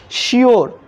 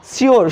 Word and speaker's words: sure: तो इस कंडीशन में यू का जो उच्चारण होगा वो क्या होगा, यू का उच्चारण यो के जैसा होगा, क्या होगा, यो। श्योर है ना, श्योर, श्योर मीन निश्चित, श्योर मीन निश्चित।